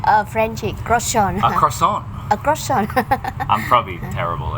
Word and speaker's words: croissant: We have a croissant, yes, the croissant in the croissant. You gotta say it like a Frenchie. Frenchie croissant. A croissant.